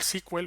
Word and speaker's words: SQL: aquí una pestaña llamada sql squel o sql como lo quieras pronunciar y lo que voy